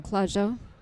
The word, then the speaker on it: Clusiau: Clusiau.